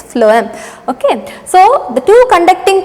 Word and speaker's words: phloem: is phloem so here p h should be pronounced as f okay phloem it's not chloem or something it's floam okay so the two